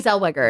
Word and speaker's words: Zellweger: Zellweger? Is that how you say it? Yes, Renee Zellweger.